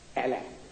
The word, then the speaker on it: Allah: So I said the pronunciation. It's written A-L-A-H by 8 D-D's backed by Reverend Scope. 9 altogether. Allah.